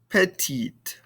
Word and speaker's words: petite: e at the end we don't pronounce the e but we do hear those consonants now crondron petit petit petti petite all right and this